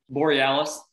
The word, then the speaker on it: Borealis: Borealis.